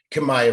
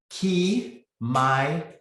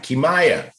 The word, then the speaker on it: Kimaya: Kamaya from Chicago. Chi-Town is in the house. No, let me say her name right. Kimaya. Kimaya. Yeah. All right, Kimaya.